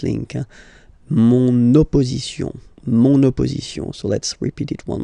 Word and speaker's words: mon opposition: feminine, but then it starts with the O. Mon opposition, you make this link, huh? Mon opposition.